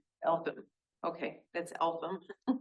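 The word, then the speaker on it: Eltham: Elam. Elam.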